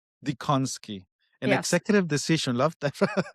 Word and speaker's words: Dziekonski: I think my husband's family made an executive decision and they've made a few of the letters silent. It is just Dziekonski. Dziekonski. An Yes.